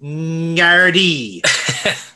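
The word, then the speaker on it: Gardaí: Yeah, James, that's not how it's pronounced. It's pronounced Ngardy.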